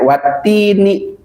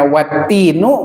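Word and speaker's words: وَالتِّينِ: Nah, wattini maka dibacanya wattini ya itu namanya sumpah atin. Jadi kalau dibacanya wattinu bukan sumpah.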